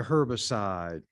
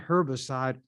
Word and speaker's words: herbicide: ground they developed a herbicide some would pronounce the h when it's with herb sh not herbicide herbicide but however you pronounce it it's still the same